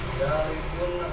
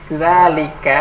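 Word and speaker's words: ذٰلِكَ: Dzalikun ajarun. Zalika. Bacanya K ya, jangan kun. Zalika.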